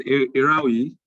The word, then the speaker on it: Erhauyi: parish is going to be the honors of pronouncing your son named Mickey blonda okay it's erawi okay all right we are you from edu